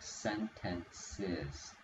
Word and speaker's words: sentences: Oh, so in this one, you want to say, because we have that S here, it has an extra syllable, so it's going to sound like sentences.